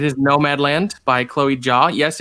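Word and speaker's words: Chloé Zhao: be like it is no mad land by chloe jaw yes it's pronounced chloe jaw um i would love it if especially as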